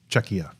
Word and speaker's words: Czechia: it's it's a hard C by the way czechia czechia thank you yeah I I um actually